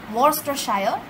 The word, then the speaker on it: Worcestershire: it is spelled as war sister shire but pronounced as worstershire so he is of an uh of a